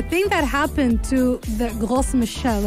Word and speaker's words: Gros Michel: The thing that happened to the Gros Michel, if I'm going to pronounce it in French, is that because it